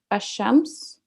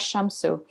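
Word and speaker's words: الشمس: the sole letter e.g ashams the son is pronounced sorry al-shams the sun is pronounced as shamsu no change takes place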